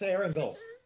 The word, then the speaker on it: Erangel: It's Erangel. Erangel. It stands for Aaron. Of course. There we go. So you don't pronounce it angel, you pronounce it angle.